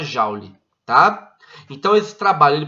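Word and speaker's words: joule: ele é medido em jaules e ele é representado pela letra j se escreve julie mas se fala jauli tá então esse trabalho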